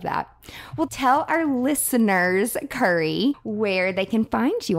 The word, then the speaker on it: Curry: spell it out and everybody's like curry like the spice I'm like yeah and then when I'm